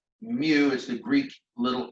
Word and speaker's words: mu: constant it's called mu naught again mu is pronounced mu is the Greek Little M all right so